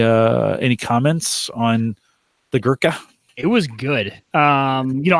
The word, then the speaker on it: Gurkha: cigars you sent us the Gurkha I think that's how it's pronounced gee you are kha Gurkha seller reserve 12